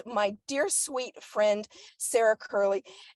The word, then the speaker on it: Currle: dear sweet friend, Sarah Currle. I probably pronounced your last name wrong. I'm so sorry. No, honestly, that's exactly how I'm introducing myself when I pronounce it.